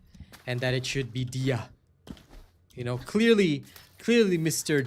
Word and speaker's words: Dia: That guy from yesterday, it's pronounced Dia.